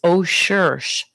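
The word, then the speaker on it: OCEARCH: It's ocean, but it's o search.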